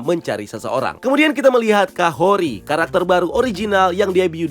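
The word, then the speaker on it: Kahhori: Kemudian kita melihat Kahori, karakter baru original yang debut di series ini. Namanya sebenarnya dibacanya Kahorti menurut Ryan Little yang memproduseri dan menulis episode ini.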